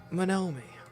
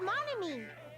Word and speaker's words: Monomi: face I'll tell you you know manomi it's monomi I'm sorry monomi my apologies je hatte when people